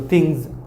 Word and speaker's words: things: Here the pronunciation is Z in the ending for S sound. Okay. So things.